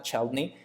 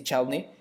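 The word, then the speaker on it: Chladni: caso este acústico alemán, Chalney, no se pronuncia así, lo voy a decir así, Chadney eh, en la arena, no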